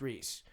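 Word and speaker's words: Riis: So the from where it's from, it should be pronounced Reese. Well, because it's R-I-I-S, right? 2 eyes, right? like in your face, yeah. Okay. And so it should be Reese, but it is.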